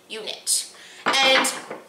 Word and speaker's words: Unit: company called unit and it's not spelled like you would think it's if you can see this but I think the light is actually washing it out but it's you - nit t you knit it's a table top